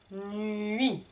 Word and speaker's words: nuit: La nuit. Attention, le T est muet. Je ne prononce pas puisque j'ai mis une croix.